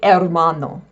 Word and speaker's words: hermano: The H in Spanish is silent. It's not hhh like in English, there is no pronunciation of the letter H. For example a brother is hermano.